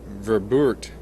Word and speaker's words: Verboort: It's actually Verboort, spelled V-E-R-B-O-O-R-T with an R.